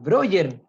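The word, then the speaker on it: Breuer: voy a escribir aquí por el chat brewer se escribe roger se dice quienes brokers después de un par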